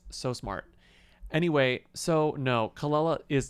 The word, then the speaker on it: Kelela: her in four ever found out that I've been pronouncing her name wrong this entire time it's not Kila it's kalala it's kalala La kalala she made a